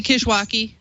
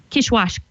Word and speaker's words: Kishwaukee: we have Oh Valerie do you know how to pronounce this Kishwaukee amateur radio club is that how you would say that probably Kishwaukee yeah quiche wash Kishwaukee I just gotta say it faster Kishwaukee Sunday May 6 8 a.m.